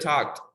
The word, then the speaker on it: talked: l talk walk and with idi you have to respect the rules of pronunciation talked okay talked okay finish with a sound with t top what okay now